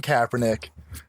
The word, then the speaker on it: Kaepernick: Can you say his name right? It's Colin Kaepernick.